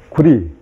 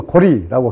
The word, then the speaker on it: 구려: 그리고 조선, 그리고 구려 또는 구려, 요거는 려라고 읽기도 하고 또 리라고 읽기도 하는데요. 구리 또는 고리라고 합니다.